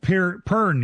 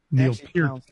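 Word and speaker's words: Pearn: Cole Pern, you remember? I always I was almost gonna call him Pier because I think of the the late great drummer from Russ Pin.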